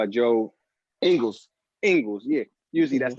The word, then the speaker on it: Joe Ingles: it's Bogdanovich or it's Joe English. I said his name wrong. It's Joe Ingles.